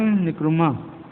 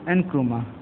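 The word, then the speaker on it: Nkrumah: क्वाम निक्रुमा, pronounce एनक्रुमा, ये जो एनक्रुमा थे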